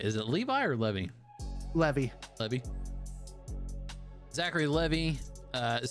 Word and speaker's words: Levi: her own person now so uh Zach Levy Levi how do you say it is it Levi or Levy Levy Levy Zachary Levy uh it says Kevin feige